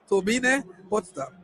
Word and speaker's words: Turbine Potsdam: She played as the midfielder for Turbine Potsdam, or Turbine Potsdam, if you want to say that in English, because this is Germany, so we have to pronounce it the German way. Turbine Potsdam.